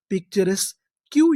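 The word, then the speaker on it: picturesque: अगर आपको आखिरी में इंग्लिश के क्यू यू ई लिखा मिले तो हम लोग क्यू यू ई को पढ़ते हैं का।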